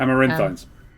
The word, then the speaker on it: Amaranthine: Am I pronouncing that correct? Amaranthines. Amaranthine. Yeah. Correct? Yep.